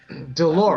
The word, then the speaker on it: Dolores: Dolores. Rhymes with a part of the female anatomy, doesn't it?